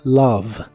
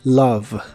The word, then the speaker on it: love: de inglés es Love no te dejes llevar por la escritura la o de esta palabra realmente se pronuncia como a y la e del final como casi siempre no se pronuncia Así que la palabra es Love Love en el presente la